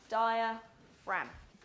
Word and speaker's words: diaphragm: it's the diaphragm it's one of those weird spellings as well it's got a silent G di frag right this morning we're